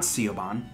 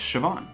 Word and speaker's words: Siobhan: and i learned then that it was not ceo bond uh it's siobhan which is pretty that's